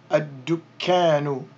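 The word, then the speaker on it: الدكان: Ad-dukkanu, ad-dukkanu. And then we're going to drop that dhamma at the end, so we would simply say ad-dukkan, ad-dukkan.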